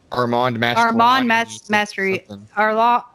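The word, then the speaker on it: Armand Mastroianni: of this movie, and I can never say his name. It's Armand Mastery. I said it when I interviewed Russell Todd, and he was like, "That's right," but who knows? He might have just been being nice because Armand Mastriani.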